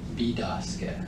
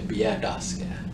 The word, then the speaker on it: Bidaske: Bidaske. Bidaske. Bidaske refers to light approaching. Bidaske. So Petoskey is mispronunciation of Bidaske. You can also say Biadaske.